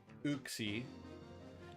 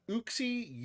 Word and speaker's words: Uxie: Azelf, Mesprit, Uxie. Is it Uxie? How do you guys say that? Uxie, Uxie, Uxie?